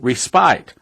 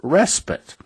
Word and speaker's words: respite: time I said it on the radio I pronounced it respite I finally got a couple of emails saying brother Stan you don't pronounce that word respite you pronounce it respite so I got my pronunciation correct but that's